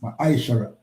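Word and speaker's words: מעשר: It means 10th in the Hebrew and is pronounced mishara.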